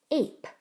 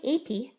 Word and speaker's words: ape: Ape. Don't say apey, just say ape. The E is silent.